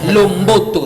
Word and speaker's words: Lomboto: Non, c'est juste un nom. Lomboto, c'est comme ça qu'il faut prononcer.